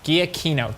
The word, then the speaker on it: Giacchino: pretty solid partnership with with Michael Giacchino yeah guia keynote thank you where were you last time I